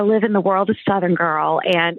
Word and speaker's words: Suthingirl: And so I live in the world of Suthingirl, and it is spelled just like you say it. It's S like Sam, UTHIN, Southern, GIRL.